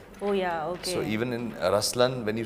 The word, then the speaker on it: Ruslaan: yeah so even in raslan when you say raslan also means the LI it's the attitude of am but the right pronunciation is rlan okay there is so